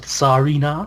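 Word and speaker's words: Tsareena: Well, because it's like a Tsar. That's the Yeah. Russian. Because it's like a Tsarina, which is like Russian. Because Serena is a bit too much like Serena.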